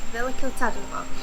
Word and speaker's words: Veliko Tarnovo: Veliko Tarnovo.